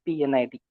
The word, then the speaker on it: P&ID: piping and instrumentation diagram mostly called as p and ID or pronounced as PN ID okay this pnid is